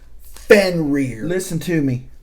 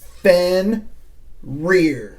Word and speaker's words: Fenrir: And by the way, it's pronounced Fenrir. Listen to me, knife tubers. It's Fenrir. Like a rear end. Your backside.